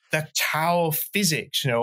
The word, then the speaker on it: Tao: sort of like the Tao of Physics, you know, or Tao of Physics, as it should be pronounced, you know, just soaking up all of this stuff.